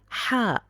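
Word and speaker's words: ح: Then later you can see a different TH, how it's pronounced in Arabic. Let's proceed with Jeem, which equals J. Then I am having Ha.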